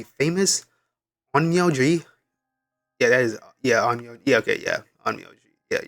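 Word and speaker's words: 陰陽師: Yeah, that is onmyoji. Yeah, okay, yeah, onmyoji. Yeah, that's how you pronounce it.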